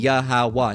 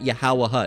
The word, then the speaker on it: Yahawah: And in this case, keeping the same structure, it would be Yahawa, not Yahawaha.